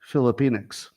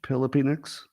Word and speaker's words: Filipinx: that be an all-black commencement or an all Filipinx, which I'm told is the gender-neutral term for Filipinos. So I'm pretty sure it's spelled with a P, not a PH, Filipinx.